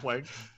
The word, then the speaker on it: Planck: we were on, but how do you properly pronounce Plonk or Plank? Just Plank. It's Plank? Yeah, I mean that's how I say it.